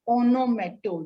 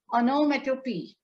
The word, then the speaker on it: onomatopoeia: It's not onomato, no. Onomatopoeia.